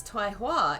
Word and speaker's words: Tai Hua: taiwa is truly noble double guessing all my pronunci tai okay so i was right it's tai sometimes i'm right tai hua is truly noble if